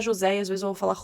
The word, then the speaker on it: José: vou falar José e às vezes eu vou falar José mas o nome se pronuncia mesmo José só que é difícil